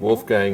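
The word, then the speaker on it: Wolfgang: really Wolf Gang and Wolf Gang is is the the American pronunciation I was born in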